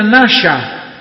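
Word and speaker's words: נשא: Entonces la palabra ahí, engañar, es una palabra hebrea que se pronuncia nasha.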